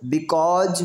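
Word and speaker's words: because: आई am here बिकॉज, इसको बिकॉज बोलेंगे, यहाँ एस का साउंड सा नहीं बल्कि जा से लिया जाता है, बिकॉज पीपुल थ्रो मी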